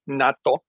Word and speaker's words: natto: talking about NATO and natto is a fermented Bean it's Japanese and maybe some pretty salt maybe they do pronounce that nettle but in Japan it's natto n-a-t-t-o super powerful superfood um